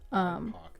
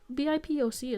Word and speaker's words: BIPOC: Oh, BIPOC, that's how it's said. Okay. Or BIPOC is also valid.